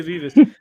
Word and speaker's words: Vivas: I've been saying it wrong the whole time. I said vibes. Sorry, Vas. There you go. Yeah. Sophia Vivas.